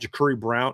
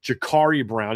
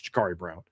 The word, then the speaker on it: Jakari Brown: We talked about Jakuri Brown or excuse me, Jakari Brown, even though it's spelled like Jakuri. It's Jakari Brown.